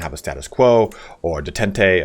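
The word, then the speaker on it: détente: And you can say, hey, I want things just to kind of have a status quo or detente. I think someone told me that's actually pronounced detent.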